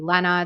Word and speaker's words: Lena: my one I um people usually pronounce my name wrong they say it's Lena but it's actually Lena it's like Jenna with an l so I think I